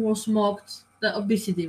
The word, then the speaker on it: Abcde: Redford said that was when she overheard a staff member making fun of ABCDE, pronounced obesity.